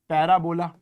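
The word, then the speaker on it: parabola: तीसरा जो है वो है पैराबोला। क्या बोला? पैराबोला या प्राबोला, एक ही बात होती है, अपना अपना प्रोनाउंसिएशन करने का तरीका है।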